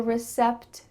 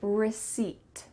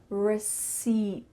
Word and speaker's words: receipt: Instead, the P is silent. So you're going to say receipt, receipt.